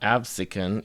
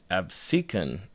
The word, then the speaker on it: Absecon: Apparently, it's not Absin, it's Absin.